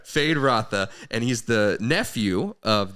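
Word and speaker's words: Feyd-Rautha: nephew of the baron FY Rafa am I saying that right fade Rafa yeah fade ra I wasn't saying it right fade Rafa you could have Kirk you're no you're abely wrong it's all right fade rotha and he's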